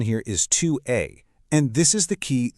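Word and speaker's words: tu es: In that case you say 2 a. And a little tip that s at the end is totally silent. So it's just 2 a. Pronunciation here is 2 a.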